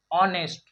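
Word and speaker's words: honest: Silent है, वाई में भी यहाँ पे एच साइलेंट है, ऑनेस्ट में भी यहाँ पे एच साइलेंट है दोस्तों। ठीक है। तो इसे इसे हम लोग वाट पढ़ेंगे। क्या पढ़ेंगे? वाट, वाई, ऑनेस्ट।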